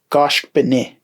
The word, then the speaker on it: goshkbene: So the I sound changes the ZH to an N. So we'd pronounce this goshkbene.